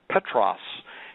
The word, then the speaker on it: Butrus: 72 and his name butrus means Peter in Arabic and when you pronounce the baby name butrus in um Arabic it it it is announced Petros he was he was